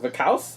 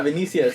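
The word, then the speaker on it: Vinícius: Did you see if what is that one player, Junior Vicaus, was out there? Oh, Vinicius? Yeah, Vinicius. Yeah. Damn, Caesar, you butchered that name. Butchered that name. Vicaus.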